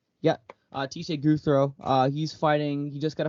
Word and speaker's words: Gouthro: Gouthro, is that how you pronounce it? The Yeah. last name? Yeah. Teshay Gouthro.